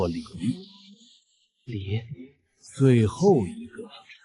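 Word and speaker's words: 李: The first one is "木下有子" (Mu Xia You Zi) , pronounced Li.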